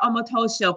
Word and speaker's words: Omotosho: T before S. It took me 14 years, so goodness.